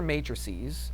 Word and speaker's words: matrices: All right, so if I'm going to add, these are matrices, okay? A matrix is the singular, and a matrice, or a yeah, how do we say that? Matrices, right? Yes, I was saying it right.